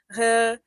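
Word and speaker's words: recauchutagem: So one of the words was recachotagem, which is not said that way. Yeah, I yeah. learned it from some of my colleagues. It's not like that. I had to learn how to say it slowly.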